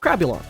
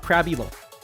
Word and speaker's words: Crabulon: Sorry, as it should be pronounced, Crabulon, not Crab Elon.